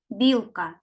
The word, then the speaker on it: білка: слово білка так правильно білка перший склад наголошений наступний малюнок слово вікно